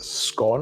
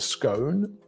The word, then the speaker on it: scone: But there's this thing called a Devonshire tea, where basically you have a scone or scone, depending on your pronunciation.